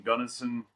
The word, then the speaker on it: Gunnison: Somebody said they bought their first Jeep in Gunnison.